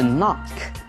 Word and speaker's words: knock: hear something，就听到这件事情非常的遗憾。昨天我们家出了一点事情意外。Wow, I'm sorry to hear that。听到这样的事情，我感到很抱歉。接下来这里有一个字是 knock，敲门的 knock，K-N-O-C-K。双子音的 K-N 的组合呢，K 是不发音的，都是发 N 的音而已。所以呢 knock。K-N 的 N 发音，K